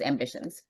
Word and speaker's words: Ambicionz: So that Z at the end is the Latin twist, and so you just it's pronounced Ambitions. Mhm.